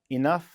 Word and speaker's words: enough: All right, so stress on the second syllable in contain, second syllable in enough.